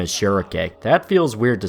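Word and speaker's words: Schierke: pronounce her name as shirake that feels weird to say and i've always just kind of called her shrike like the bird because she has a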